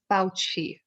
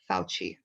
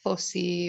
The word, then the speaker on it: Fauci: So watch out, his name is pronounced Fauci. Fauci, okay? Not Foci or Fauci, Fauci, like CH.